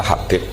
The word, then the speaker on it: Habib: Itu di harokatnya kitab itu ada yang nulis Hubab. Tapi yang benar, oh enggak, yang benar itu bacanya Habib. Habib itu As-Sulami, itu ikut marga Robi'ah.